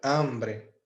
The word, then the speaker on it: hambre: ambre que significa fome essa palavra começou com h a a sílaba tônica é AM e está no singular quando eu falo una ambre perceba que apesar desse h tá no meio dos dois as o h não tem som em espanhol então ele